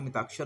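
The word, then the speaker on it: मिताक्षरा: मिताक्षर, हालांकि लिखते ये हैं लेकिन उच्चारण इसका मिताक्षर होगा।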